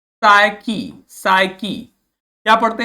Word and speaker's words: psyche: ठीक है, ध्यान देना है, स्पेलिंग जरूर ध्यान देना है, क्योंकि जब बोल रहे हैं तो पी का कहीं जिक्र नहीं है, लेकिन जब लिख रहे हैं तो लिखते हैं PSYCH।